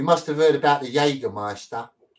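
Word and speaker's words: Jägermeister: Notice how there's no S used to spell it. I didn't I didn't know. Ah, you're right. See, that's just a Cockney thing. We call it Jagger Meister. It's not even how you say it, is it?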